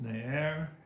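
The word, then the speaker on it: נער: it looks like in in hebrew it is nair is how you pronounce it i'll put the pronunciation up that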